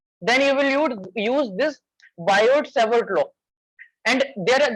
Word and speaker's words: Biot: the next topic is bio servers low T is silent in biota so yes proportional DL